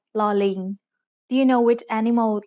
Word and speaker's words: ลอลิง: It's called ลอลิง Do you know which animal ling is? It's a monkey. The sound of ลอลิง as an initial consonant is l, like the L in little.